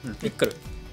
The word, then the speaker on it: フィックル: フィクル、まあ読み方としてはフィクルなんですけど、はい、